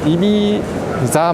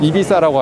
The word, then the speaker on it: Ibiza: 우리가 이제 환락의 도시를 알고 있는 이비사 말고 이비사라고 하셔야 돼요. 다가 영어에 땡큐 발음 있죠? 그것처럼 혀를 씹어서 발음하시는 게 되니까 이비사라고 하시면 되고, 우리나라에 또 잘 알려져 있는 그 패션 브랜드 있잖아요.